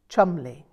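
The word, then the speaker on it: Cholmondeley: rather an intimidating surname chol mondeli pronounced chumley she didn't like being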